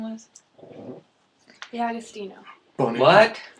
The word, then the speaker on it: D'Agostino: D'Agostino. Bunny. What? D'Agostino. Bunny. No, she's Bunny. No, D'Agostino. Spell it.